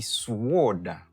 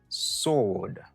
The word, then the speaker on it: sword: Ou pas dit sword, ou dit sword.